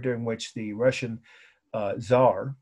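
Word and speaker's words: czar: in the countryside now the Zar that's spelled if you care to know the spelling I want you to it it's not on S is CZ R you know that means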